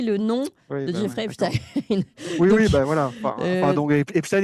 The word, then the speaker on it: Epstein: fais un petit aparté, moi je prononce Epstein, et il y a beaucoup de gens qui prononcent Epstein, j'ai jamais prononcé Albert Einstein, si vous voulez, hein, on prononce Albert Einstein, et le fait de prononcer non pas Jeffrey Epstein, mais Jeffrey Epstein, c'est déjà un biais